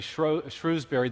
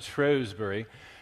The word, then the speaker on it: Shrewsbury: to lecture in uh what we we Americans would say Shrewbury. The British pronounce it Shrewsbury.